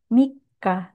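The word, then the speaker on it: 三日: Oke, cara baca yang benar adalah Niseng, Nijugonen, Shigatsu, Mika.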